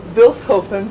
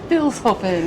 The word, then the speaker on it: Vilshofen: And they just said the name of the city is Vilshofen, so now we actually know how to pronounce it. Vilshofen. There's no sh. Vilshofen. There's no sh. It's Vilshofen.